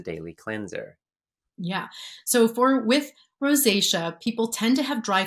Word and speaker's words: rosacea: Priscilla said regarding rosacea, I'm not sure if I'm pronouncing that right. Yep, rosacea.